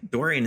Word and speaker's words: Dorean: Dorian is spelled Dorean.